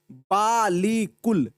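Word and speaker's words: بالکل: काफ लाम पे कुल, बालीकुल, लेकिन हमने पढ़ दिया क्या? इसको हम पढ़ते हैं बिल्कुल। क्या पढ़ते हैं? बिल्कुल, इस तरह पढ़ते हैं। तो अलिफ कहाँ चला गया? अलिफ तो साइलेंट हो गया, तो इसको बोलते हैं अलिफ मादूला।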